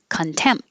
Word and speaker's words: contempt: time it's very tense contempt i wouldn't release it unless there's a vowel after it like contempt of contempt of court but if i just say contempt i'm closing my lips for the m and that's it no opening for the p or the t just hold it contemp irreplaceable irreplaceable eleventh when